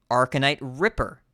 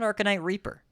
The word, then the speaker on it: Arcanite Ripper: so commonly mispronounced fol cards and how to pronounce them the death knight weapon arcanite Ripper not arcanite Reaper Reaper is a 5-2 this is a ripper